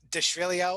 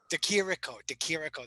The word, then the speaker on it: Di Chirico: But then we had, which was crazy to me, Deshrilio, or how do you say it? Di Chirico? How does he say it? That Italian. Alessio Di Chirico. Yeah. DeChirico, that's it.